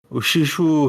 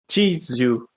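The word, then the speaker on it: Chishū: icônico, né, que é o Shishu Ryu, não é isso que se pronuncia? Chishu. É Chi.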